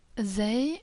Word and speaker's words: Zay: Zay is pronounced as a normal Z in English, as in zebra, for example.